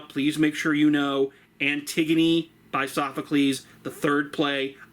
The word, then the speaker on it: Antigone: I know it looks like it's spelled Antigone, but it's pronounced Antigone.